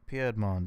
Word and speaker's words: Piedmont: that just show up it's pronounced piadmin does that help no